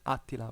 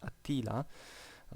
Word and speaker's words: Attila: my mother tongue i i used to read attila with the accent on the first a apparently in english it's attila so you know i